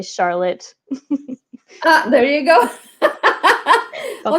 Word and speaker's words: Charlotte: La seule exception, c'est Charlotte.